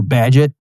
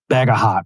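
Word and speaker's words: Bagehot: Okay, by the way, that his name is pronounced Walter Badget, but you may have seen you might be thinking it's Walter Bagahhat or something because it's spelled B- A G- E H O T.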